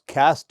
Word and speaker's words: caste: or pollution and a social status cast is pronounced as cast in American English people often want to know